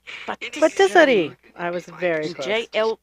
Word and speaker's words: pâtisserie: pronunciation? Pâtisserie. Patisserie.